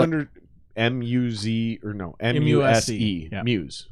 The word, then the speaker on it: Muse: M-U-Z or no, M-U-S-E. Yeah. Muse. Like Muse. Oh, Muse. Yeah. Okay. Like you're my muse.